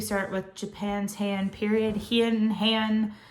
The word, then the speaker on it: Heian: Heian, I hear it pronounced different ways. So I'm going to say Heian period, okay?